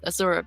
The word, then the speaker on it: Azura: So I tried taking the name Azur because I liked the pronunciation, but I knew that everybody would pronounce it differently because not everybody takes a U for an U. So I went with Azura because you can't really go wrong there.